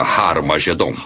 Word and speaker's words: Armagedon: E realmente em algumas das antigas versões do Novo Testamento, escritas em grego, Armagedon tem o som aspirado no início, que significa que era pronunciada com H. Originalmente era Har Magedon, e é muito fácil passar de Har Megido para Har Magedon.